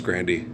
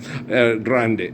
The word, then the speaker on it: Grande: Grandy. Grandy? You biscuit? Okay. Grande.